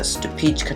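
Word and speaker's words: Stupice: Then this is a Stupichka tomato. That's how the name is pronounced.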